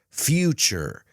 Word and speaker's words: future: Remember, the T plus the U is ch. Nature. Future. Creature. Statue, situation.